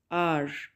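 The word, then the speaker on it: hour: The next word is आर। आर में H silent है, ठीक है, एच साइलेंट है और इसको प्रोनाउंस करेंगे आर, घंटा, जिसका मीनिंग है घंटा, ठीक है।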